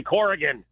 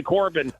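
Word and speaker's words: Corgan: And his name is Billy Corrian. Cor, if you called him Billy Corbin. I apologize. That's because there's a left-wing filmmaker here in Miami named Billy Corbin.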